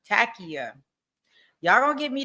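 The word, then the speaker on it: Taqiyya: Okay, Takia. Okay, that's the pronunciation for it. Takia.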